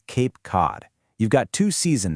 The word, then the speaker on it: Cape Cod: The C in Cape is pronounced differently than the C in Cod because of the vowels that come right after them.